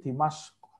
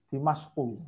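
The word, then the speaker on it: دمشق: Nah, Damaskus itu kalau bahasa Arabnya itu bukan Damaskus. Tapi Dimasko. Dimasku. Ya, atau Dimasko. Ya. Kalau dari jadi Jer atau masuk Dimasko bacanya.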